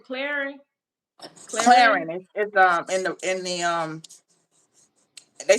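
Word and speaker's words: Clarins: Is Claritin? Is that a good product? Skin product? Am I Cla- saying it right? Clarin.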